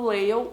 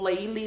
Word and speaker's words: Lale: Esse livro é baseado na história do Lael, ou Leili, eu não sei como vocês falam, mas eu acho que se pronuncia Lael.